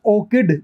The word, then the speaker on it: orchid: यहाँ पे जो CH है वो च का साउंड दे रहा है। एक होता है ORCHID, ठीक है ना, ये होता है ऑर्किड, ये कै का साउंड देगा, ऑर्किड।